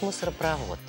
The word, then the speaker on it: мусоропровод: мусор а провод орсини правильно говорить мусоропровод в этом слове два корня мусор и про вот есть подобные слова обозначающие системы через которые переправляют различные вещества в них также ударение ставится на последний слог мусоропровод газопровод водопровод запомнил